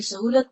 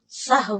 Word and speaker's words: سہو: کا فعل بھی ہے۔ سہو ہوتا ہے، سہو نہیں ہوتا، سب لوگ اپنا تلفظ بھی درست کر لیں۔ سہو جیسے لغو، ٹھیک ہے، کرم، نفس، سہو۔ سجدہ صاحب کے اسباب،